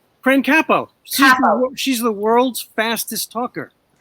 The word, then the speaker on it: Capo: have fan Capel on and she is a capo a capo how do I say her name correctly Frank a bo kaap oh okay all right Frank capo she's the world's fastest talker she's in the